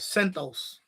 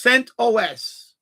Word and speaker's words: CentOS: Sentos people called it Sentos like Mentos but it's CentOS and that's a derivative from Red Hat.